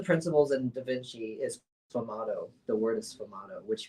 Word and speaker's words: sfumato: Do we have to say it like an Italian Yeah, he person?